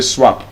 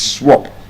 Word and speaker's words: swap: Observe, I did not say swap. It's swap. You don't swap. You swap. You don't say you want to swap your phone.